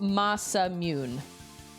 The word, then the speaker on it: Masamune: Well, according to my googs, it says it's pronounced masamune.